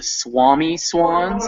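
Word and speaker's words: Swomee-Swans: lines down you see it's the swami swans is how that's pronounced swami swamy swans okay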